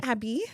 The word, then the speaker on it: Abby: It is Abby, the way that I spell it, not EY and not ABI, which is what all the Nigerians want to call it or spell because of what name? Abiodun is what I assume, right? I guess many Abbies in Nigeria go by ABBEY, and they also pronounce it. But I'm Abby.